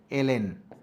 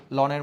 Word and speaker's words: ln: দেখতে পাচ্ছি সেটা হচ্ছে লনের মধ্যে দুইটা ভ্যালু বসাবো আমরা লন উচ্চারণ করি কিন্তু আসলে সঠিক উচ্চারণ হচ্ছে এল এন তাহলে এর ভিতরে প্রথমে